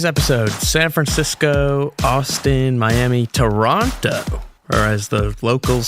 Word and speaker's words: Toronto: Later in today's episode, San Francisco, Austin, Miami, Toronto, or as the locals say, Toronto.